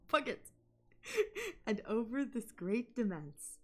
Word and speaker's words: Puget: It's a hard G now. Puget.